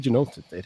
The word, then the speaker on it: Genosis: But it's definitely Genosis. That is what it is.